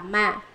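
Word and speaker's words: 罵: Chữ đọc là mạ, chữ đọc là lị, lị cũng là mạ.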